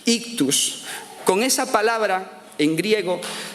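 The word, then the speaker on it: ἰχθύς: Bueno, ese pececito significa que la palabra pez en griego se dice o se escribe ictus. Ictus.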